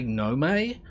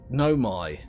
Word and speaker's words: Nomai: My inclination is to say Nome. But it's the AI on the end of it that throws me off. Apparently it's Nomai. So, I'm going to say Nomai as often as I can anyway.